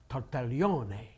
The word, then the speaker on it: Tartaglione: It's Tartaglione.